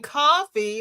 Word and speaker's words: Ko-fi: Then the light went off because it's spelled Ko-Fi. You're thinking coffee because we're saying coffee, but that's not how it's spelled.